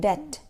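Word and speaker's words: debt: ठीक है नेक्स्ट है डेट डेट में बी साइलेंट है शुड शुड में एल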